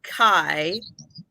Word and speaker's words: Kai: Okay, and the thrifting channel is Kai, rhymes with sky.